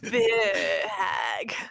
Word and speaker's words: Bheur Hag: Bheur hag.